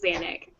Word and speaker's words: Xanic: So, I created I created Xanic, and that's how you pronounce it, Xanic.